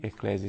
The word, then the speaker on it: Ecclesiae: Eclésia se escreve ECCLESIAE.